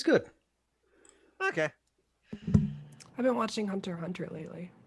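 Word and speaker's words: Hunter × Hunter: the remote wilderness yeah it's generally typeset hunter x hunter but i believe it's pronounced hunter hunter every single episode has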